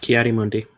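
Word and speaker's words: Ki-Adi-Mundi: Jake, Coyote Mundi. Alex, Kiadi Mundi. Both correct. Alex pronounced it better though.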